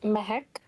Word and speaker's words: Mehak: Um it's Mehak. Mehak?